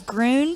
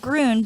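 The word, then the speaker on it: Gruene: the hill country because everybody pronounces Grune Texas it's called Grund because that's that's the German Way of saying green because it's such a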